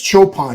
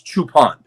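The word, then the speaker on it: Choopan: honei and by the way I heard it's chopan not chupan is that do you know if that's true it's chupan it is chupan yes ch o o p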